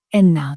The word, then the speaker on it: ένα: And some students say eno, dio, trie. You know, so the last vowel is the problem, but you can remember 3 vowels, right?